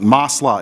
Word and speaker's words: Maslah: Maslah, M-A-S-L-A-H, the public interest.